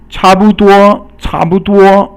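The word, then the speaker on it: 差不多: So 差 is fourth tone, 不 is 轻声, and 多 is 一声. So fourth tone is 差, and then 轻声 or silent tone or neutral tone is 不, and then 多 is 一声 or first tone.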